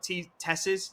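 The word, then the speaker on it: TeSeS: Tesses, that's how we're pronouncing it, will try and potentially look for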